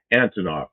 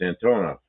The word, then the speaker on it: Antonov: Antonoff. People say Antonov. It's not. It's Antonov. Anton. It's a but almost everybody pronounces it uh Anton because I got the at the beginning instead of the middle.